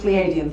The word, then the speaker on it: Pleiadian: So, Canadian rhymes with Pleiadian, thank you.